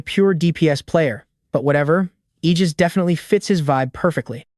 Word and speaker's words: Aegis: And there's Suo, stepping up with the handle Aegis. When the crew looks confused, he explains the English pronunciation. You know, Aegis, the legendary shield of Zeus. He spells it out, Aegis, hitting that G hard.